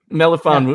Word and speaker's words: Melifonwu: Talk about pronunciation, by the way. I'm not even going to try it. Melifonwu, you got it. Melifonwu.